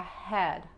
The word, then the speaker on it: head: Y la H en inglés se pronuncia como la J o como la G, pero no fuerte.